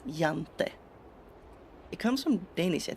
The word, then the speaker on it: Jante: The law of jante. Yeah, it's spelled with a J, but it's pronounced with a Y, jante.